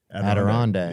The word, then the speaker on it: Adirondack: I don't know how to pronounce that Nice. word. Adirondack.